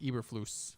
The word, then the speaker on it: Eberflus: quinn as well as packers dc uh matt eberflus that's how you pronounce it um one name i will want